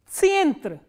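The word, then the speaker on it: центр: And how will you pronounce this word? Tsientre.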